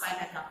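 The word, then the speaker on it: Bylakuppe: Okay, that is how it is pronounced, Bailagap.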